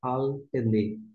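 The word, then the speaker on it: על פני: E como tem esse tracinho aqui, tem um vídeo que trata sobre o nome desse tracinho, mas você lê como uma só, e você pronuncia al pene.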